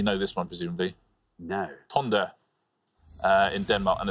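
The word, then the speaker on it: Tønder: Or Tinder. Or Tonder, you put yeah, it's Tinder. Yeah, that's the Danish Tinder.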